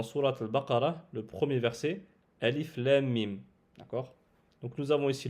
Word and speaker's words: الم: C'est-à-dire que nous allons prononcer la lettre Alif normalement, mais le Lem et le Mim, on va les prolonger de 6 temps. Ce qui donnera Alif Lam Mim.